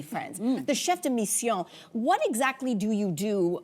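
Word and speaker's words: chef de mission: And say it correctly, friends, the chef deion.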